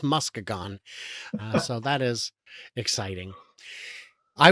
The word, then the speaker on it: Muskegon: It's spelled the same, but it is Muskegon.